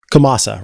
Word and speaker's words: Ch'omasa: uh wait is it remind me how it's pronounced kamasa right thank you while chomasa